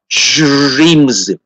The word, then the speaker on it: dreams: Cia, cia, cia, cia, cia, cia, dreams. D перед re считается же. Dreams. И раздвигается губа.